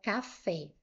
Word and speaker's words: café: Quando nós temos uma palavra, como aqui a palavra café, a sílaba mais forte aqui nessa palavra é a sílaba fé. Se você parar aqui, vai ficar café. A sílaba forte aqui foi a última.